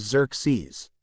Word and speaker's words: Xerxes: Pronounced as Xerxes.